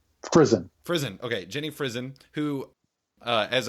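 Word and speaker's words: Frison: How do you pronounce Jenny's last name? Prison. Frizen.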